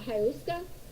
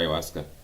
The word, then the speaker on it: ayahuasca: That goes for a ayahuasca ceremony. Oh, let's go back a little bit. She's talking about ayahuasca. She doesn't even pronounce it correctly. Ayahuasca. It's not saying ayahuasca. Ayahuasca, lady.